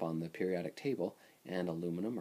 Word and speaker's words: aluminium: the periodic table and aluminum or aluminium, which is how they say it everywhere else, which sounds much cooler, is uh it's found on the periodic table.